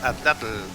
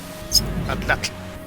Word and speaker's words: atlatl: poco aprendí cómo se pronuncia, porque yo decía Atlatl, por ejemplo. Pero esa L al final se corta, se pronuncia Atlatl, Claro, ¿cachai?